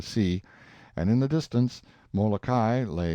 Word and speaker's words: Molokai: of this group of islands oahu and molokai pronounced and molokai on the morning of the 18th and soon